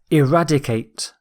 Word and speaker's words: eradicate: Our final word is eradicate. Eradicate. The stress is on rad.